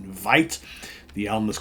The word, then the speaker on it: Weite: the band is called Vite spelled w-e-i-t-e it's a German pronunciation Vite the album is called